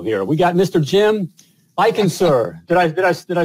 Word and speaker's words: Eichenser: Jim I can sir did I did I say it right okay